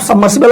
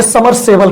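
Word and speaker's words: submersible: बास 2.5 मी है अब सबमर्सिबल आप समझते हो जिसे उच्चारण ना कर अपने के करण प्रेयर लोग समरसेबल कहते हैं सही उच्चारण उसका तीन लोगों के बेचे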